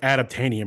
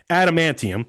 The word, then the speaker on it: adamantium: I said it wrong. I said like adaptanium or something. Adamantium, excuse me, is the top one, and then vibranium, gold, silver, bronze.